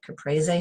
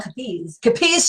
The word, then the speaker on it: capiz: could add that complement caprese shell. I'm talking about like a salad now, caprese salad. How do you say that? Capri shell? Capiz shell.